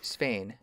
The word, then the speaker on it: Svein: I mean, Sven is like the present day name. I think Svein with like this that vowel sound is like how they said it back then. Okay, Svein.